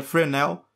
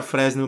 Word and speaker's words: Fresnel: sobre o frágil reflections a pronúncia correta seria final mas vou falar fresno mesmo pra ficar um pouco mais fácil então esse prêmio reflete